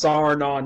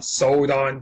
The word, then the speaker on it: Sarnon: have I worn out sodon yet um it's pronounced sarna not sodon dinguses sodon it's it's your twin brother who